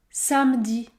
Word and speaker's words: samedi: Muret hormis soufflé emmitouflé deuxième règle la lettre E n'est pas prononcée car il y a une seule consonne prononcée devant c'est la même chose dans le mot samedi samedi ou encore tranquillement